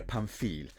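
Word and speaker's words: Pamphilj: paresi and Palazo Doria panil and I had to look up how to pronounce the second one because for some reason Italy ended up with a random silent Jay there at the end and it's still not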